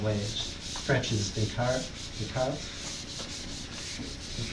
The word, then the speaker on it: Descartes: French is Descartes. The pronunciation is yes.